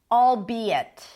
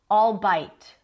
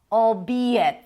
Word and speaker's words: albeit: So, albeit, and not albeit, and not albeit. Albeit, 3 syllables, albeit.